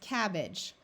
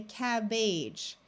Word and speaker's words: cabbage: here it's cabbage now you might wonder why don't we say cabage well this is the accented syllable which means that this a sound is not actually a long a sound it becomes a the muffled schah sound so this e is